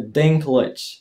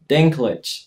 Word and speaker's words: Dinklage: Tak wymawiamy jego nazwisko. Właśnie Dinklage. Dinklage.